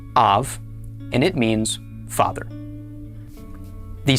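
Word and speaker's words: אָב: It is pronounced av and it means father.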